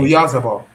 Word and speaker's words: Oyarzabal: Or your Tharball. It's a Or your Tharball. Your it's Sabah. Oyarzabal. For me, I Yeah. pronounce it Oyarzabal.